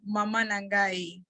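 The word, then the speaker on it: mama na ngai: And Guadalupe, you're supposed to say Mama Nangai.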